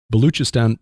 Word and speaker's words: Baluchistan: baluchistan and I think that's how Tim said to pronounce it the the CH instead of a c baluchistan province of of Pakistan